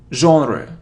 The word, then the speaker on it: genre: it's half it isn't Jenner or genre its genre genre genre genre so yeah and OH genre